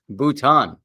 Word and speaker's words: Bhutan: something new today and we even learned the pronunciation because it's bhutan all right thank you for that bhutan i